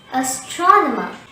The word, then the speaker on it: astronomer: coming back to astronomer the word strava has four syllables a the second syllable strong is stressed and there are three schwas in this world hence the correct pronunciation will be astronomer repeat after me astronomer